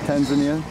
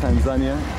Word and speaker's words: Tanzania: yeah we're somewhere in tanzania or tanzania this is the english and swahili pronunciation it's all good